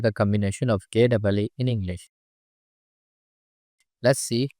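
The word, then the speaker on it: ケ: Ke, Ke, The pronunciation of character K in Japanese is something like the combination of KEH in English.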